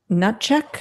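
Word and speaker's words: Hnatiuk: The last name H N A T I U K is pronounced Nut check.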